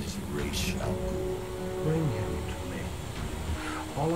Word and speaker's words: Ra's al Ghul: His name is Ra's al Ghul.